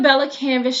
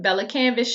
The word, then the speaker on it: Bella Canvas: canvas shirt and y'all forgive me if I've ever said canvas pelicans it just sound better that way I know that's not the name and I know I pronounce things wrong sometimes judge your mama so here's the camp up to y'all about to say it Bella canvas shirt um tells